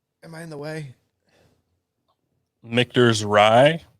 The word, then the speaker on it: Michter's: Michter's is, and I always say it wrong. I know it's Michter's, but I always say Michner's just because that's how it comes out of my mouth.